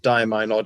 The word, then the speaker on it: diamine: And diamine or diamine, it's valid. It's pronounced either way.